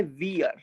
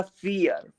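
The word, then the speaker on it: vier: अब ये लिखा है वियर, वियर, लेकिन अब आप इसको प्रोनाउंस जर्मन में कैसे करोगे? ये हो जाएगा फियर, फियर, फियर।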